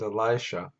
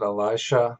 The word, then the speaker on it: Elisha: Elijah said to Elisha and I pronounce it Elisha that seems to be what how it pronounced um and it's a woman's name in English now Alicia I think that might actually be close to the Hebrew but in any case I call it Elisha like most Scholars stay